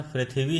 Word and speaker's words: पृथ्वी: जैसे एक शब्द पृथ्वी, तो पा में जब री लगती है तो उच्चारण उसका शुद्ध रहता है और लेखन भी शुद्ध रहता है। पृथ्वी नहीं कह सकते हम, उसका उच्चारण पृथ्वी ही होगा।